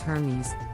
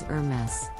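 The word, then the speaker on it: Hermès: and accessories some people mispronounce this brand as Hermes but the correct pronunciation is Hermes the brand originally specialized in harnesses and saddles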